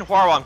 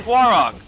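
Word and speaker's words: Hwoarang: I say Huarong, because how wrong is funnier to say than how rang.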